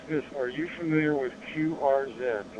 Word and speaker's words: QRZ: Are you familiar with QRZ, the letter Q? Uh, Quebec Romeo Zulu. three letters. Quebec Romeo Zulu. It's usually pronounced QR Z.